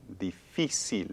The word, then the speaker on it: difícil: Y difícil. Difícil. Again, 3 syllables.